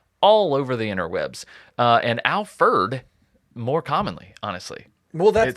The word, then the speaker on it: Alferd: And I'm not saying it wrong. It's some people say Alfred, right? Alfred was obviously his name, but he kind of embraced Alfred for whatever reason in his later years.